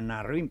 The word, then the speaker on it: Nasrin: imagenio que se llama nasrin aunque él lo pronuncia narrin pero escrito es nasrin que es fue está